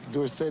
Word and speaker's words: Dorsett: And anyway, Dorsett is supposed to be a French name, and S-E-T-T spells set and not sit. So I think that is the correct pronunciation.